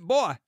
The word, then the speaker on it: Bowie: and within C 10 hours he wrote back he says hello there personally I pronounce it boy so it said like Superboy never really thought I'd